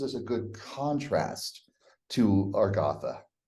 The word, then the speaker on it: Agartha: a good contrast to our gotha like Arthur there we go you